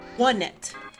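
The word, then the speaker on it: Onett: Straight from a Nintendo of America translator, it is pronounced One-Net. One-Net.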